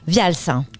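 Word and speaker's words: Wials: un jeune créateur de la marque de vêtements Vials. C'est ça, ouais. Alors, comment ça s'écrit déjà ?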